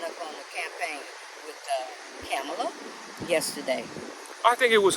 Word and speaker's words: Kamala: If you have a difficult time pronouncing Kamala, just if you got a friend named Pamela, just say Pamela, then Kamala, and then you're going to be all right.